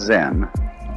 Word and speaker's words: Zen: So then, this word Zen is Japanese way of pronouncing the Chinese word Chan, which in turn is the Chinese way of pronouncing the Sanskrit word jhana.